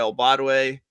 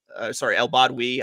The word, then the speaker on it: El Badwi: And we just recorded an episode today with Sarah El Badwe. El Badwi. I've apparently been saying her name wrong the entire time that I've known her, and that just came to today.